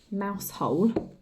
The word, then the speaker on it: Mousehole: Now it's spelt Mousehole, but in Cornwall they call it Mousehole.